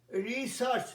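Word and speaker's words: research: রিসার্চ, দেখো বলেছিলাম EAR এর উচ্চারণ আ হয়, ডার্থ, সার্চ মনে পড়ছে, সার্চ, ডার্থ পৃথিবী, আর্থ।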